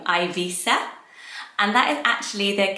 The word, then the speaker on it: Ibiza: so here in the uk we would say i beat there some people say ibiza everything goes really but the catalan name for it so the spanish is ivisa so let me know i'm pronouncing this how i weighed in like my dialect but we're all from different places we've got different pronunciations of it i think it is